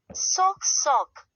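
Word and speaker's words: сок: This looks like a c but is pronounced like the English s as in son. Example, sock sock meaning juice.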